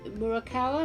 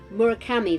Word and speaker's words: Murakami: things you know I've got like uh Haruki murakawa I've pronouncing that right murakami that's it um and I've also I do